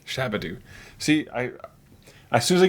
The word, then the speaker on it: Shabadu: Shabadu. Shabadu.